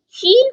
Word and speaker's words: ش: Sheen comes from middle of the tongue to pronounce sheen.